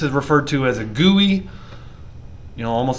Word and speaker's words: GUI: referred to as a gui you know almost like gooey butter cake but but spelt g-u-i pronounced gui um graphical you know